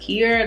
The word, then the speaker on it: Quiara: I am Kier B. It is spelled with a Q and it's pronounced Kier.